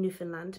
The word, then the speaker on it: Newfoundland: And then you also have to remember to say, understand Newfoundland. So it sounds like understand Newfoundland.